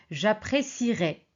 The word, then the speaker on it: j'apprécierai: J'apprécierai. Vous voyez, on prononce pas le e mais on le garde parce que la règle, on a dit c'est l'infinitif plus la terminaison.